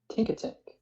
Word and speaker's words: Tinkatink: Tinkatink.